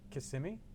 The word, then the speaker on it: Kissimmee: He has a timeshare in Kissimmee.